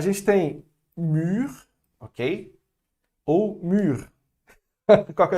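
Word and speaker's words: mûre: Ou mûr. Qual que é a diferença? Nenhuma. Apesar de ter o E aqui no final, no feminino, ele não vai ser pronunciado, porque o E, a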